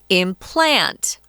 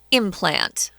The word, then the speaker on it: implant: Tom, I wanted to mention to the listeners, the verb is to implant. And the strong syllable is on the second syllable, implant something. But the noun is implant.